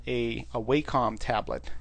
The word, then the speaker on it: Wacom: idea of using a what's called a a wacom tablet it's spelled wac what is it it's not that it's w-a-c-o-m it's a wacom tablet and i will see